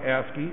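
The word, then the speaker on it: ASCII: me right that there you can see that it's pronounced asy right there it's a seven bit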